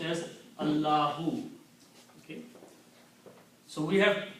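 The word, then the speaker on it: الله: And this word is pronounced as Allahu.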